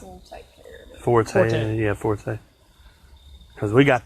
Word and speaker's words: Forte: a Kia Forester, I guess is how you say it. We'll take care of it. Forte.